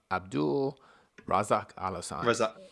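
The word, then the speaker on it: Abdul Razak Alhassan: Abdul Razak Al Hassan.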